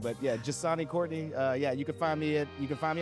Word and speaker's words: Njsane: But it's Njsane. But yeah, Njsane Courtney.